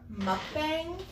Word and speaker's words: mukbang: And today, this is our first, it depends on who you are, how you say it. Mukbang is, I believe, the correct term. Some people say mukbang.